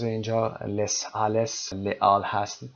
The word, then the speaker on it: Les Halles: تلفظ اینجا Les Halles، Les Halles هست و قرن 19 پاریس بوده.